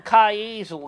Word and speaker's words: Kiesel: the name right look can you say keizel like that hazel he got himself one of them kai easel guitar sounds like weasel yeah he got a